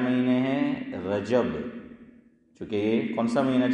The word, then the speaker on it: رجب: رجب، یہ رجب، میں کہ گجب ہے، ہاں یہ ہے رجب، کیا ہے؟ جیم پر فتح ہے، زبر ہے، رجب، تو کیا بولو؟